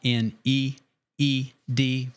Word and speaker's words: knead: It sounded like that I was saying like K, it not N E E D, but K N E A D. But my vowels all ran together. So, but it is spelled with a K.